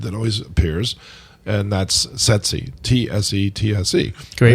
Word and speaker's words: tsetse: always appears, and that's tsetse, T-S-E-T-S-E. Great right? word. And it's an easy one to remember. Is it not tsetse? It's not tsetse. It's tsetse? It's tsetse fly.